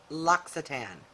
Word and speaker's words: L'Occitane: is in the 2020 loxitan advent calendar then you're in the right place and keep on watching okay so if you've ever seen this brand the official way you pronounce it is l'occitane i google searched and